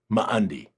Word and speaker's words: Ma'andi: So, but if you have an apostrophe between two vowels, there's a short little pause. Ma'andi, right?